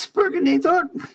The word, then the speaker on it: Sperginator: You got the name wrong. It's just Sperginator.